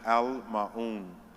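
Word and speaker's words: Al Maauun: It's A-L space M-A-A-U-U-N, and it's pronounced Al Maun.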